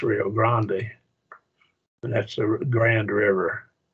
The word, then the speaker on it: Rio Grande: Here is your Rio Grande, we call it the Rio Grande. I think maybe it's frequently pronounced Rio Grande.